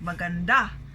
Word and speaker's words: maganda: However, if we equate that to our Filipino language, like we say maganda, our syllable stress there is the last, maganda, right?